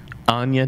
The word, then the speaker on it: Anya: what it is and it's Ana Taylor Joy that's how it's pronounced born in Miami I